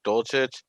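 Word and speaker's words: Dulcich: and someone else could talk about it greg dolcit that yeah that's how you pronounce it i just think he had a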